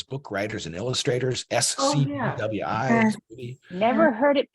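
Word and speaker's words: SCBWI: Yeah, in the industry, we all say Squibby. It's Society of Children's Book SCWI. Writers and Illustrators. And it's, Yeah. It's like saying the alphabet as a word.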